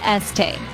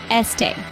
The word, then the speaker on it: Estée: It's pronounced as Es-tay. Listen carefully. Es-tay. Now take a moment to repeat it.